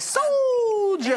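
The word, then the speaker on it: Souljers: have to say it like, soldiers.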